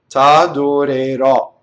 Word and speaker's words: t'adorerò: Now this stress is on the ultimate syllable, t'adorerò. Okay, so when an O ends on a stress, it's almost always open.